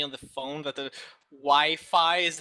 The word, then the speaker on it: Wi-Fi: Well, it's pronounced Wi-Fi. It's a W, an I. Wi-Fi.